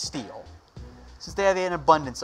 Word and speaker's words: Steel: From Steel Hardwood, will the Niners trade a running back since they have, it's pronounced Steel.